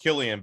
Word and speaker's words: Cillian: Cavill um Josh Hartnett Cillian Murphy I think it's his name the guy that plays in the place yeah I think it's pronounced Killian but yeah Murphy okay he's